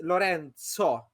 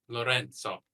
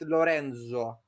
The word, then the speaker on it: Lorenzo: and they pronounce it Lorenzo. So it's Z instead of Z. So I've taken to write my name with TS because that's kind of how you pronounce it.